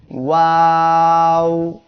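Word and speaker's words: واو: সবাই আমার সাথে বলেন ওয়াও। এই অক্ষরটি 2 ঠোঁট এইভাবে গোল করিয়া উচ্চারিত হবে।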